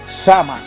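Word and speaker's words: Samhain: dios de la muerte shanghai pronunciado sama así a quien le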